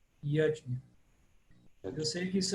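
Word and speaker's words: yajña: Então, Yadnya, Yadnya.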